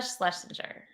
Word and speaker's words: Schlesinger: Eliza Schlesinger.